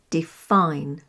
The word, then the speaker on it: define: And then there's the general guideline that verbs and prepositions have the stress on the second syllable. Verbs we've used before here, like receive, receive, and insist, insist, or define, define.